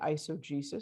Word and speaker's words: eisegesis: Je ne sais pas si c'est la bonne prononciation en français, mais en anglais, c'est eisegesis.